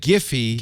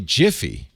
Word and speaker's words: Giphy: No, the guy who invented the GIF format says you pronounce it GIF. And the even people who invented Giphy say it's Giphy. So that's fine. That's Giphy. Now, because they don't want to be Jiffy.